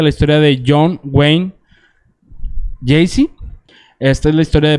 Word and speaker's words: Gacy: Le voy a platicar la infancia de este individuo, que lo voy a llamar Gacy, porque me da hueva pronunciar todo el nombre. ¿Jay-Z? Gacy.